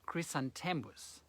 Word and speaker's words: chrysanthemums: In English, the flowers are pronounced chrysanthemums.